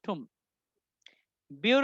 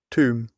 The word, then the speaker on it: tomb: উচ্চারণ করেন টুম, টুম টুম টুম টুম টুম, বিউর উচ্চারণটা হবে না, ঠুম। নেটিভদের মতো করে বললে বলেন ঠুম, ছয়শোকা ঠুম, লাস্টে বি নাই, tomb, ঠুম।